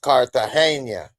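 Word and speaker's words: Cartagena: It's actually supposed to be pronounced Kartahena. He say Carterena, but it's actually Carter is how they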